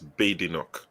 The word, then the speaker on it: Badenoch: How do you pronounce the name now? Because I heard that it's not Badenoch. She said that there's no bad in my name. She said her name is not Badenoch, it's Badenoch. Badenoch.